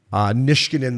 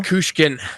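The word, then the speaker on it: Nichushkin: Nishkinen, the big Russian. Is that how you say his name, Princey? Nishkinen from Colorado? Nikushkin. Valery Nikushkin, yeah.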